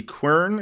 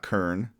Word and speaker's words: quern: the recipe for the quern. I'm gonna make a quern, and I did look up the pronunciation. It's Quern, and it is quern. It's not kern, as far as I can tell.